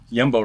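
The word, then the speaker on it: Jumbo: Yumbo rapper. That's how you pronounce it.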